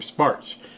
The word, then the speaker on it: Spartz: I believe that's how you say her name, Spartz.